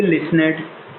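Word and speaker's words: listened: तो इसकी second form जो होती भाई, एक तो होती लिसनेड, देखिए यहाँ भी टी साइलेंट रहेगा, लिसनेड होती है, और थर्ड फॉर्म भी सेम यही होती है, लिसनेड ही होती है।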